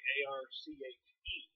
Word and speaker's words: arche: Then the word arche, A-R-C-H-E, that E has a little slash over it, pronounce it as arche, means dateless past or eternity.